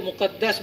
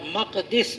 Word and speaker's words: مقدس: بیت المقدس۔ اس کو مقدس بھی آپ پڑھ سکتے ہیں اور مقدس بھی پڑھ سکتے ہیں، دونوں تلفظ درست ہیں۔ تو بیت المقدس